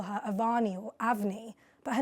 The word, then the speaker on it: Avani: A lot of people want to call her Avani or Avni, but her name is Avni. It's pronounced the way that it would be spelled U-V-N-I, but it's written A-V-A-N-I.